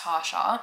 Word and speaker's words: Tarsha: It's literally just Tasha.